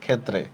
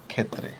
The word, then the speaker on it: ক্ষেত্রে: খেয়াল থাকবে না এই দেখেন ক্ষেত্রে শব্দের উচ্চারণটা হচ্ছে এভাবে ক্ষেত্রে এই দেখেন খে ত হসন্ত তরফলা ইকার ক্ষেত্রে দিত হবে না কি মনে নাই আপনাদের